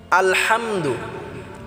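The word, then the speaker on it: الحمد: আল হাম, হাটা আমরা গলায় চাপ দিয়ে উচ্চারণ করব।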